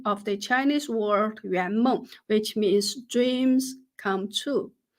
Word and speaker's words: 圆梦: By the way, Yuanmeng is the pronunciation of the Chinese word Yuanmeng, which means dreams come true.